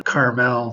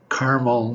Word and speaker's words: Carmel: I always think of the town Carmel, California, but I also lived in Carmel, New York, which I felt like I should pronounce it Carmel, like the one in California.